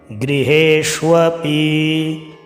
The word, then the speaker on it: गृहेष्वपि: गृहेष्व है नीचे, गृहेष्वपि आधा मूर्धन्य शकार के नीचे वो पूर्ण है, तो गृहेष्वपि। ठीक है, इस बात का ध्यान रखना।